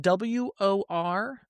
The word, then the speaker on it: Worcester: Worcester properly, or Worcester, Wootown, but it should be pronounced Worcester, like Worcestershire sauce.